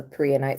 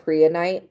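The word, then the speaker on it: prehnite: So, when it comes to that, I don't know if I have a bracelet down here that's a prianite. There's a crystal called prianite.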